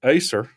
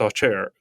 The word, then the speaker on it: Acer: in Alabama uh but she's like no it's pronounced off chair so then the thing